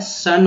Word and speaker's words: son: पुत्र जो है सन हो गया, देखिए ओ का उच्चारण यहाँ पर आ की तरह किया गया, ना कि ओ की तरह, ना कि आ की तरह।